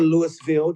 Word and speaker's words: Louisville: He's here from Cincinnati, but living now down in Louisville, Kentucky, or Louisville, depending on how you want to pronounce it.